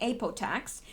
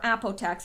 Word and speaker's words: Apotex: drug company the drug company ape attacks or Apotex I've heard it pronounced both ways but anyone in Canada